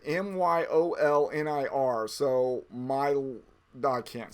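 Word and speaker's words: Mjölnir: There's only 1 team left in the hat, and that is the mighty Mjolnir, M-Y, it's, even though it's a J, you're supposed to pronounce it Myolnir.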